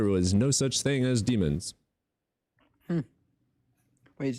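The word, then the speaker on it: daemon: There was no such thing as demons. Hm. Wait. It's from diamond. No, not diamond. It's like d a e m o n. Dam or diamond or Yeah, it's it's it's pronounced demon.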